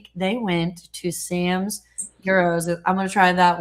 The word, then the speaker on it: gyro: Yes, the G is silent. Gyro.